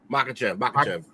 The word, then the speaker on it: Makhachev: Makhachev.